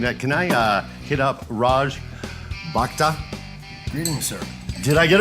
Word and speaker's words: Raj Bhakta: as you're pouring that, can I hit up Raj Bhakta? Greetings, sir. Did I get it right? Roughly. Oh, very good. How do you say it correctly then? Raj Bhakta.